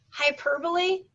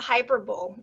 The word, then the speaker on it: hyperbole: Like, hyperbole is not hyperbole. Even that it looks like hyperbole, it is not.